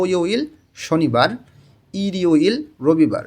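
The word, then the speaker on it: 일요일: তাহলে থো ইউইল শনিবার, ইরিউইল রবিবার। রিউলটা ইয়ংয়ের স্থানে গিয়ে উচ্চারণ হবে ইরিউইল রবিবার।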